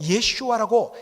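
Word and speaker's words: ישוע: 여러분, 예수라는 말, 이 예수란 말, 더 정확하게 예슈아라고 히브리식으로 발음을 되는데, 이것은 바로 여호와는 구원이시다.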